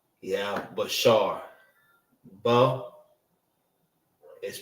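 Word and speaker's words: בשר: Flesh and body is Bashar.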